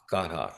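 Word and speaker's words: Gothot: God hawk. Well, in German it's God hawk.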